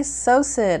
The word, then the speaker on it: psocid: The fourth little bug that is probably in your orchid bark is called a psocid, with a silent P in the front of it.